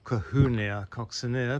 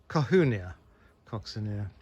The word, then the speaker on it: Colquhounia coccinea: don't know but um it's a spelt called kahuna coccinea but it's pronounced kahuna coccinea so robert cahoon who is named after was